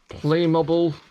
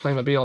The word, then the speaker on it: Playmobil: Uh, Pokemon Mega Constructs, Playmobble. Yes, I know it's pronounced Playmobil.